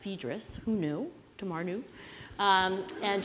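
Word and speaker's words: Phaedrus: early as um Plato's fedis Tamar says it's pronounced fedis who knew tomaru um and James agreed so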